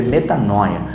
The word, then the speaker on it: metanoia: grego que significa metanoia que se pronuncia né E que se escreve metanoia e ela ela significa